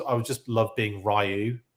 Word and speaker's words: Ryu: was just love being Ryu like oh Ryu as he's actually pronounced but yeah I I